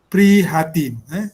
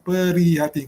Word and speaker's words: prihatin: Kena sebutan tu kena ikut ejaan. Prihatin, bukan perihatin. Kalau peri, P-E-R-I, peri. Okey, sebutan dia prihatin.